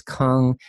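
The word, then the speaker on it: !Kung: So one is Kung. The explanation point in the beginning is pronounced with a sound.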